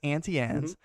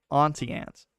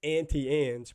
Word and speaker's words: Auntie Anne's: evidence we pronounce it as auntie and we pronounce it as auntie anne's but i do know that some folks say auntie ants cool so we the ones that are right